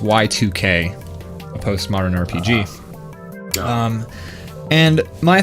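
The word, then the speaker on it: YIIK: beginning of the game it's pronounced Y2K post-modern RPG um and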